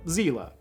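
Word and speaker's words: Seele: to pull nerve string s or zela as the new dub correctly pronounces and while the Angels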